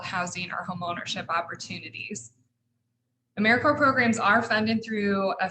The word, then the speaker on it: AmeriCorps: like to emphasize that americorps is pronounced as if it was like core of the earth or marine corps it is not a mere corpse or americorp because we aren't dead we're alive and well okay i just a